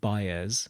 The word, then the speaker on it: Baez: with Patti LaBelle but didn't make it Joan Baez is that how you pronounce that name is yes yeah not a